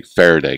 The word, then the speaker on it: Faraday: And that's quite a bit, but I wanted to start with the Faraday cage. Am I pronouncing it correctly, first of all?